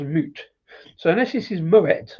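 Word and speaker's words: Mout: Um, moot to me, M O U T is a cider company from New Zealand, but they actually say it's pronounced moot.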